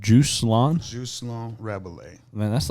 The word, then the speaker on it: Rabalais: Rabalais. And, that's short for... It's pronounced Jocelyn Rabalais, but the way that we say it or